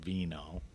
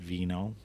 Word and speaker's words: VKnow: All right, so you created a new wine learning tool, an app called VKnow. Get it? VKnow, but we spell it VKNOW.